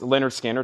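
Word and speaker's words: Lynyrd Skynyrd: Panther soundtrack on pink vinyl $28.99 Leonard Skinner pronounce Leonard Skinner $ 36.99 Tracy Chapman is not up for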